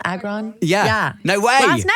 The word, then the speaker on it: Agron: How do you pronounce her last name? Agron.